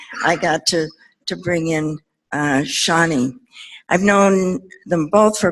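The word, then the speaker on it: Shoni: And I met Shani, and she spells her name S-H-O-N-I. And I think she takes almost any pronunciation of it, but I say Shani.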